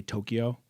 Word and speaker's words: Tokyo: By the way, Japanese pronounce the first syllable stronger than the other syllables. the you talking about? So, and the way I remember that is like you ever hear someone say Tokyo? Tokyo. Americans tend to say the second syllable as the stronger one.